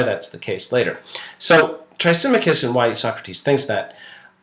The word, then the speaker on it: Thrasymachus: I'm going to skip over that because really the discussion becomes interesting when this particular fellow, Thrasymachus, or the Greek pronunciation is Thrasymachus, but the English tongue says Thrasymachus, he barges into the conversation.